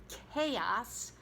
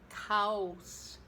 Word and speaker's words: chaos: So anyway, but the word is chaos, not chaos.